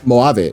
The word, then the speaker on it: Mojave: Yeah, and I told him, like, oh, that's just Mojave. And she was like, oh, you say it like Spanish? And I was like, yeah. Yeah, you say it like Spanish, yeah.